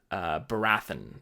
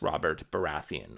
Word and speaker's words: Baratheon: is Katalin I was saying Baratheon or Bera 'then i was saying yeah robert Bharath in' when it's of course Robert Baratheon House Baratheon another example is the